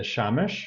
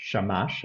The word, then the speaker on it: Shamash: nine if you include the shamish shamash I should say it right um so is a